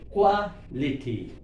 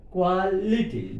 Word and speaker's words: quality: For example, quality, if you take, liti is the last syllable, ITY is suffix, but it is the part of the syllable liti. Liti before syllable, quality, quality, liti, that is a suffix. Because ITY is there, that's why liti we have to take as a suffix. Before the syllable what? Qua. So Q above.